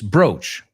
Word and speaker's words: brooch: Do they sound the same? Absolutely.